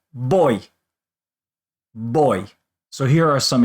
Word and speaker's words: voy: So if you're saying I go, which is spelled V-O-Y, you're going to say boy.